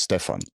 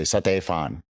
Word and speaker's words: Stefan: When I moved to Thailand, nobody could pronounce Stefan. They would say Satefan, which made my ears bleed, honestly.